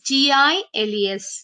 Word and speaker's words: Giles: Kids, I want you to pronounce this again properly. It is Giles.